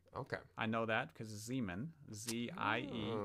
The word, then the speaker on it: Ziemann: stifled and or stifle you always pronounce the second letter okay i know that because zeeman z-i-e pronounced the second